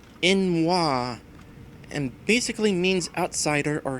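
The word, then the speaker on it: n'wah: Okay, so first things first, in regards to that last swear that Beerforce mentioned, Beerforce says it's from Morrowind, pronounced like Inwa, and basically means outsider or heathen.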